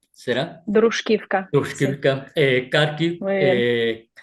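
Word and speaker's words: Druzhkivka: Has estado Sí, anteriormente, perdón mi pronunciación, Dushkivka, ¿será? Druskivka, sí, Tushkivka, Kharkiv, muy bien.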